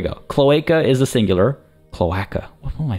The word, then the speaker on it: cloaca: Cloaca. There we go. Cloaca is the singular. Cloaca.